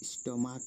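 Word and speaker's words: stomach: যেমন এস টি ও এম এ সি এইচ স্টমাক এখানেও সি এইচ এর উচ্চারণ কয়েছে তাই আমরা এখানেও এস যোগ করে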